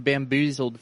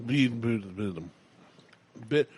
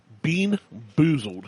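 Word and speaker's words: BeanBoozled: It's the buckhorn bamboozled fiery challenge. You can't even say it right. Buckhorn bean boozled fiery challenge. Yeah. Boon bezled. Bean bean boozled. Bean boozled.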